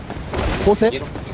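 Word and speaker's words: José: 호세? 조세, 조세. 그 스페인어는 J가 H로 발음이 돼.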